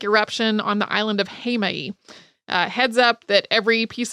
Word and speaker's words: Heimaey: Jaime or hey my or hey me but Jaime is closest to how I've heard people actually pronouncing it while I was in Iceland Jaime is a small island off of Iceland's southern